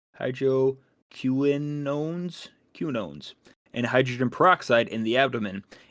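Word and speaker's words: hydroquinones: or Greek uh storage Hydro quinines that's not how you pronounce it but it's Hydro Quinones cunones and hydrogen peroxide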